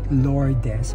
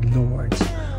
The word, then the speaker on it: Lourdes: So the correct pronunciation is not Lourdes, but instead Lourdes.